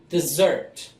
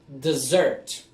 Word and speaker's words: dessert: understand the right word the difference is mostly on the emphasis of the word desert desert when you eat sweets